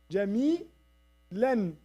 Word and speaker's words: جميلا: Jamilan. Jamilan. Right? Jamilan. So, in this way, they used to pronounce the tanween.